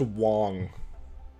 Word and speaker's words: Wang: It's kind of wild to me that they put Taraxacum on this banner, because, or it's pronounced Wong, to act literally not.